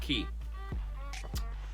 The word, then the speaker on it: Quay: The hotel on the Queen's Quay, it's spelled Q-U-E-Y, Quay, but pronounced Key.